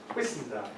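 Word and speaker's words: Whissendine: How do you pronounce where it is? Whistendine.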